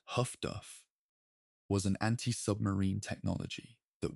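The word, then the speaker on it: HF/DF: The development of highfrequency direction finding HF flesh DF pronounced huff duff was an anti-ubmarine technology that worked on a different principle from radar and complemented it effectively.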